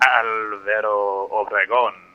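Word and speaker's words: Álvaro Obregón: Alvaro Obregón is how you would pronounce that.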